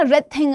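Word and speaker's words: wreath: है बेटा है ना रेथिंग a flowery band रेथ आर से बोल रहे हो लेकिन लिख किससे रहे हो डब्ल्यू से सो ये साइलेंट लेटर्स हैं और साइलेंट लेटर्स आर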